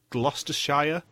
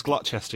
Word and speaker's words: Gloucester: When there was the cheese challenge in Quebec, and I think it was Megan who pronounced it Gloucestershire. Gloucestershire? It was Gloucester, yeah.